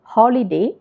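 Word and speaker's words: holy day: അപ്പോൾ ഉച്ചാരണത്തിലുള്ള വ്യത്യാസം കണ്ടല്ലോ. ആദ്യത്തേത് ഹോളിഡേ, ഇത് ഹോളി ഡേ.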